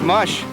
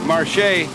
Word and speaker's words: marche: most mushers uh use mush and mush comes from the French Canadian word Marche and the English people couldn't pronounce it properly so they started saying mush uh French Canadian Ian